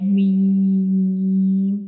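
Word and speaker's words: م: So this is the pronunciation of lam. Now we move to the next letter, that is meme.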